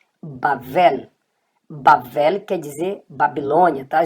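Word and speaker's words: בבל: E aqui você tem o bet também, só que agora ele está com som de V e você vai ler esta letra como vet.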